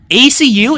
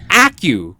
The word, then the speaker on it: Acu: Also, apparently ACU isn't called ACU. It's pronounced au.